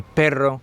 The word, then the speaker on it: perro: And it is quite important that you do pronounce that double R sound, especially with words like pero, but, or perro, which is dog. So there is quite a difference between the two.